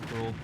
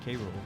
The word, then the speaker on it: K. Rool: Yeah, they just pronounced it Cruel. I don't think they ever. No, they ever said K. Rool.